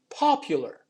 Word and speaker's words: popular: right same thing for the word popular so the stress is on the first syllable we still have that ye sound after the p and between the p and the u um which you can also